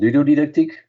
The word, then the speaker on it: ludodidactiek: And I think at least half a day or a day a week, I would focus on ludodidactiek, as we pronounce it in Dutch.